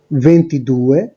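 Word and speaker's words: ventidue: তো আপনারা দেখতে পাচ্ছেন, একটু আমরা দেখেছি 21 এর জন্য উচ্চারণটা হচ্ছে ভেন্তুনো, 22 এর ক্ষেত্রে ভেন্তিদুয়ে, 23 এর ক্ষেত্রে ভেন্ট্রিত্রে।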